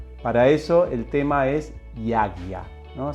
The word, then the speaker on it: yajña: Para eso el tema es yagya, ¿no? Se pronuncia más o menos así. Yagya es una palabra difícil de pronunciar, pero si quieren la manera fácil es yagya, que es con la G, ya, ¿no?